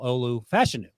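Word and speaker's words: Olu Fashanu: the summer and uh number 74 left tackle Olu fashion I found out is how he pronounced his name called the Joel Clap by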